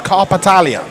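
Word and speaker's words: Karpatalya: you to Barnaby hands are clearing up the pronunciation it's carpetalia carpetalia carpetalia but it will be fira ursulin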